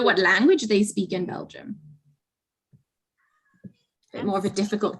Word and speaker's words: Belgium: it is ananya it's belgium excellent yeah so what is the word we can say jump bell gem but obviously spelled differently not spelled like that this is how we